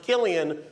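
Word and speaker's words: Cillian: just wonderful Killian is interesting fact about his name it's pronounced Killian when he does drama when he does comedy it's sanne and congratulations to selanne's co-star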